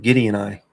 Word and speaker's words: Gideoni: So, Gideon, but with an I. Gideon eye.